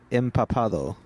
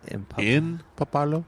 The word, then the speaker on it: empapado: According to Google, it is suelo empapado. Suelo empapado? Empapado. Oh, empapado. E-M-P-A-P-A-D-O. Okay. There you go. So, yeah. But we haven't seen that. We haven't. We haven't seen it's a rare suelo empapado.